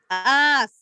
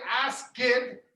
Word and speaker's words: asked: So look, there is an E there, but you can't hear it. You don't say ask it, not ask it.